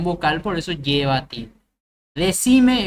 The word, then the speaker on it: decime: Decime es una palabra llana que termina en vocal, por eso no lleva.